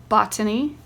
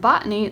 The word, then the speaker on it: botany: a word, as colony, botany, remember, important, recollect, represent. In the words colony and botany, the first syllable is accented.